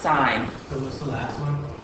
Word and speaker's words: sine: abbreviations the person who looks like sin but is pronounced sign ta n tan so